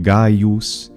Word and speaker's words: Gaius: of people in Italy hypercorrect the Latin name Gaius into Gaius.